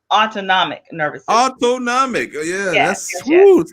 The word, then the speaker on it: autonomic: uh and great great try so it's actually pronounced autonomic nervous autonomic oh yeah yes medical i didn't